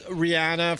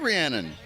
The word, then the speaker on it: Rhiannon: all Rihanna from Fleetwood Mac. I like Rhiannon. Rhiannon, I should have said it right.